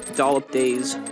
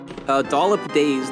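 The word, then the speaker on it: Dollip Days: Dollop like a dollop of whipped cream, like but also spelled like DOLLIP because she's a doll. She's a sentient doll creature. And then Days like Dazed and Confused, like weed, like really like serious weed, marijuana.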